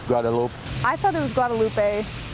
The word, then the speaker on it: Guadalupe: people told me it's Guadalupe. I thought it was Guadalupe. Just from living in Southern California for a while, I got used to pronouncing that extra E on the end.